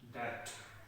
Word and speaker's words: debt: We are going to discuss about it in detail, but firstly, we will discuss about bad debt expense. Here, the B is silent.